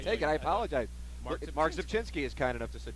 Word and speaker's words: Rzepczynski: No, because nobody can say my name. It's Rzepczynski. Yeah, but I just said it. It's not that hard. He would call you Rzepczynski. Well, Rzepczynski. Technically, that's the American way to say it.